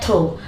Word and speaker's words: through: और दो, इसको पढ़ते हैं थ्रो। देखिए जब GH लास्ट में हो तो उसका वो साइलेंट रहता है, इसको पढ़ते हैं थ्रो, मतलब इतना पढ़ते हैं ये साइलेंट रहता है।